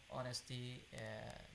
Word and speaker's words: honest: is active yeah also honesty this is a noun form of the vocabulary yeah now we have with the vocabulary honest and honesty here in you can say the H is silent it's very readable capillaries